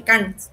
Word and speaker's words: Kant: Pero, por otro lado, aparece Kant, así se pronuncia, y lo que él...